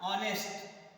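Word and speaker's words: honest: And second thing, अगर pronunciation Wavell से शुरू होता है, जैसे आपने देखा यहाँ ऑनेस्ट, ऑनेस्ट देखा तो एच साइलेंट है, एच is silent, then you will apply O, so and will be applied here, right?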